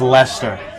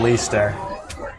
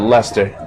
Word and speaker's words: Leicester: It is pronounced Lester. I've gotten a couple texts now about my misprononunciation of Leester.